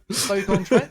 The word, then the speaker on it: Stoke-on-Trent: Stoke-on-Trent? Is that how you say it? Yeah. Stoke-on-Trent.